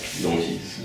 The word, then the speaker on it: noughties: Noughties. Noted? Noughties. Like naughty? Yeah.